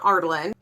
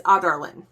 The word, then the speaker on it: Adarlan: So it's not Ardalan, it's Adarlan. So not Ardalan, Adarlan, which is really hard for me to figure out because I think Ardalan sounds way better. And I think that's what my mind went with. My mind literally was like, we're just going to insert an R next to that first A because it sounds so much better to say Ardalan. But it's Adarlan.